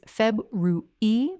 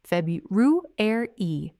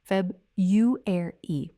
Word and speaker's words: February: Both are acceptable, but the version many learners use, which is Feb-ru-e with only 3 syllables and the 4th syllable completely dropped, is less standard.